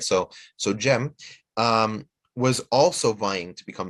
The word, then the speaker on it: Cem: Bayezid II was able to get to Constantinople first, but his younger brother, Shahzade Cem, in Turkish, the C is pronounced as a J, right? So Cem was also vying to become Sultan.